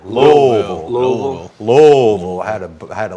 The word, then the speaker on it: Louisville: Jes unbelievable yeah yeah you said Louisville you know how they say it there Lille Lille had a had